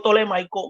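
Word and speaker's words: ptolemaico: griego se llama griego tolemaico griego tolemaico y se escribe la primera letra es con PT tolemaicos Pero como de ptolomeo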